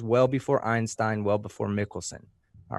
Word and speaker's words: Michelson: a second okay the Mickelson Morley test and you said it right the first time I think I said Michaelson it's Mickelson so you were right there Mickelson Morley test you